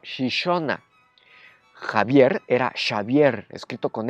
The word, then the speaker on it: Xixona: Eso quiere decir que lo que se escribe con X suena como she. Por eso al pueblo alicantino de Gijona se lo conocía como Xixona.